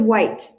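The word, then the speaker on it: Whyte: And David White, that man, it's spelled W-H-Y-T-E. He's Welsh.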